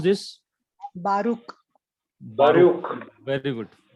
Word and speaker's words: Baruch: Can anyone pronounce this? Baruch. Baruch. Very good. Baruch.